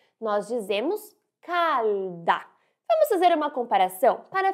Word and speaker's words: calda: E cuidado com a pronúncia da letra L. Ela deve ser bem pronunciada. Nós dizemos calda.